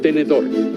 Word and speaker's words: tenedor: Por ejemplo, tenedor tiene 3 sílabas diferentes, porque al pronunciar la palabra hago 3 golpes de voz. Tenedor. En este caso, la sílaba tónica es dor, porque tiene mayor intensidad, y es una palabra aguda, porque la sílaba tónica es la última de la palabra.